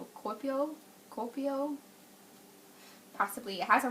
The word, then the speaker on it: Kuopio: I'm terrible at pronouncing it. It's Kuopio.